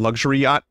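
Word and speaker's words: Luxury-Yacht: It was something luxury yacht. That's how you pronounce it. Throat Wobbler Mangrove.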